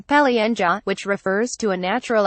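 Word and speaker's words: полынья: ice pack it is a loanword from russian paulínia russian pronunciation Pelle Anja which refers to a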